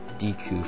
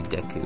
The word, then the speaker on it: Deku: um deku uh yeah i've i've pronounced like dq for some reason all the time i've always heard that i i know this one is supposed to be deku though um the japanese name